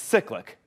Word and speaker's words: Cyclic: But pronounced, it's cyclic. Like a cyclic process.